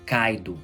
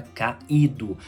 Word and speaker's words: caído: na sílaba exemplo caído eu não falo caedu havia caido havia caído então não ditongo cai